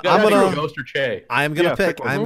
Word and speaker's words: Che: I said last week I was going with Michael Shea, or I think that's how you say his name. But Michael Che. Che.